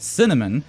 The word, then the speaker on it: CNMN: You have CNMN, pronounced Cinnamon, who is a robot that analyzes your team's behaviors, and you have the beefy macaron.